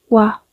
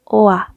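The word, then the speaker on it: 와: Pero al momento en que vamos a hablar, tiene la pronunciación de UA, UA, UA, UA, UA. No OA, es UA, UA, UA.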